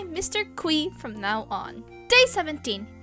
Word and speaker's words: Qi: Well, he revealed that he pronounced this as Mr. Qi (Kwi).